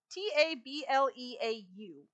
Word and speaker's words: tableau: books accompanying each T table how do you pronounce that word t a t a b l e auu Tableau Tableau okay contains facts details or information